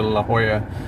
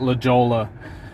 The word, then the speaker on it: La Jolla: Yeah, Mandy just said I used to call it La Jolla, which if you say it phonetically, it is La Jolla. Because it's a J, but it's 'Cause a it's a Spanish J.